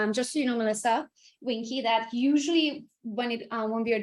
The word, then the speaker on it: Vinke: And Melisa, is it Wink? Vinke? Vinky? Okay. Vinke.